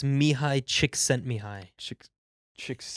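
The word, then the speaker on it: Csikszentmihalyi: mihai mihai mihai now now apply the the silent l to the last name mihai sent me high nope six me how do you pronounce it it's mihai chick sent me high chick chicks chick sent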